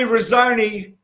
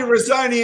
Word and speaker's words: Renzoni: from melbourne and i've got the famous tony rosoni that's how you pronounce the surname tony claus wren's like to knock the macaroni on it with an e okay here's tony rosoni and he's not macaroni i love that guy